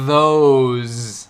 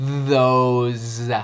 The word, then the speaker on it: those: Nota a pronúncia com Z aqui. These, those. E o TH também é vozeado, não é these. É these, those. Quase faz cocegas na boca quando falado devagar. These.